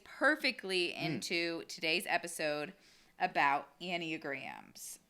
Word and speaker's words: Enneagram: into today's episode about annie grahams um wait that's how you say it yeah i know that's what i said to her and and and any and graham oh i've been saying enograms for a good one that's close yeah tomato